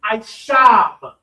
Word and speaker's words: Ishab: That is Ishab.